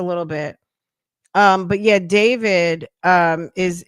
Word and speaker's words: D4VD: the car, which was a Tesla that belonged to a singer and Queens native who goes by the name David spelled with A for period.